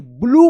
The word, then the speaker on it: blue: ब्लू पढ़ेंगे, ब्लू। यहां पे यू का उ उच्चारण हो रहा है और ई जो है ना साइलेंट है, ब्लू।